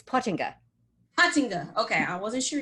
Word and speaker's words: Pottinga: It's Pottinga.